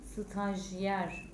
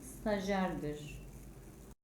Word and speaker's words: stajyer: olan kelimenin okunuşu cereyan yazılışı stajyer olan kelimenin okunuşu stajer yazılışı Mezura olan kelimenin